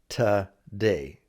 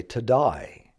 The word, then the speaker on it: today: Now, in your travels, you have probably heard this word pronounced several different ways. A lot of English-speaking people will say today, today, almost like it should be T-A, today. What day is it today? Others will do their best to pronounce the two, today. What day is it today? If you have friends who are from Australia, they're more likely to say to die.